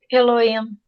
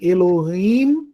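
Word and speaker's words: אֱלֹהִים: Lembrando aí a pronúncia do rei. Lembrando que nós estamos adotando, né, a não aspiração do rei, né? Mas se por acaso vocês ouvirem Elohim, como se fosse um rzinho bem fraquinho, né, saibam que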